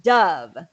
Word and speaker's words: dove: bird are pronounced dove but when you say dive in the past like i dove into the pool or i dove into the lake it's with the long o oh so you dove so that's the action verb in the past but the uh sound dove is with the bird or the the soap brand okay thank you you're